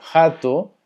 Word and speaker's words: rato: Bueno, jato, porque sabiendo que la R al inicio se conoce como una J, es ratón.